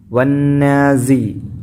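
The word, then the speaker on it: والنازعات: മുൻപല്ല് രണ്ടും തട്ടിച്ചിട്ട് സ വന്നാസി വന്നാസി വന്നാസി വന്നാസി ഇവിടെ ഐനാണ് വന്നാസി ഒരിക്കലും വന്നാസി ആത്തി എന്ന് ഓതരുത് ഹംസയാണല്ല മറിച്ച് ഇവിടെ ഐനാണ് ട്ടോ പിന്നെ അതുപോലെ എന്നുള്ളിടത്ത് വൈനാണ്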